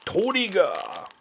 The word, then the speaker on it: Trigger: Got a man the Japanese like pronunciation where it's like a well clearly it's trigger but it's but it's like toriga kind of dumb but uh the and a joker.